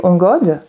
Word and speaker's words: ongod: Parce que, justement, vous dites, vous êtes un canal, donc vous recevez, vous, les ongodes. Oui, d'ailleurs, oui. La prononciation, pardon, comment avez-vous dit?